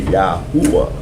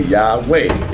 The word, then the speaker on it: Yahuwah: Yod Hey Wah Hey, Yahuwah. Or it's like some people say Yahweh.